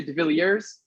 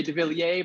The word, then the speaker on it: De Villiers: villier uh it's uh i say de uh some people say de villiers you know so the french like to say davilier my family immigrated from